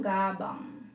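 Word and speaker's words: 가방: So, meron na tayong gabang. Gabang. Gabang means bag. Gabang, ibig sabihin ni gabang is bag. Pwede rin kabang, or gabang. Parehas lang yun.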